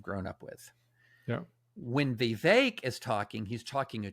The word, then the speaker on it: Vivek: It's pronounced Vivek, like cake, and I have to keep reminding myself.